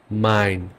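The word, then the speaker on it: mein: কিছু কম্বিনেশন শিখি যেমন এ আর ই মিলে এটার উচ্চারণ হবে আই এর মত এক্সাম্পল দেখাই জাইন ডাইন মাইন জাইন মিন্স টুবি ওকে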